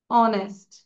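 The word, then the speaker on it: honest: Number two যদি দেখি অনেস্ট, কেন আমাদের এখানে অ্যান হলো? কারণ আগে তো কনসোনেন্ট আছে এইচ, খেয়াল করব, আগে আছে এইচ কিন্তু উচ্চারণটা কি হচ্ছে, এইচটা সাইলেন্ট আছে এখানে, তাই না?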